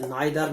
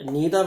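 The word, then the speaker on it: neither: छांट बताने का वाले का मतलब ये है कि जैसे नाइदर नॉर, इसको नीदर नॉर भी कहते हैं, दोनों प्रोनाउंसिएशन सही है।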